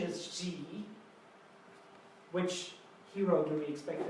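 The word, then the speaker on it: 几: The pronunciation is G.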